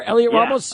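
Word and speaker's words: Heliot: about is that fair Elliot Ramos I think the H is silent I think you're right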